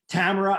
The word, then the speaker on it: Tamora: And I just wanted to first introduce Tamora, and I'm going to pronounce her name right because we have about 3 or 4 different Tammys and Tamoras and Tamoras.